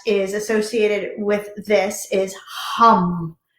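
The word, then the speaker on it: Ham: So the mantra that is associated with this is hum. H-A-M, but it's pronounced H-U-M-N-G. Hum, hum.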